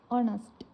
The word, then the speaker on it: honest: honest. මෙතන h අකුර තිබුණට h අකුර silent වෙලා honest කියලා තමයි pronounce වෙන්නේ. එතකොට ශබ්දය o අකුරක ශබ්දයක්, vowel sound එකක්.